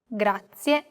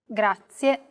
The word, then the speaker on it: grazie: A very common mistake many learners make when pronouncing this word is that they don't pronounce the final E clearly. Listen closely to how I pronounce this word. Grazie. Grazie.